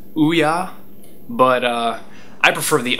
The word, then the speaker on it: OUYA: game system coming out that was announced it's pronounced Ouya but uh I prefer the oh yeah I mean it's o u y a I'm